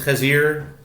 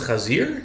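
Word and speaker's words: חזיר: The 17th is Chazir? That doesn't sound. Chezir. But it's spelled like Chazir. It's spelled Ches Zayin Yud Reish.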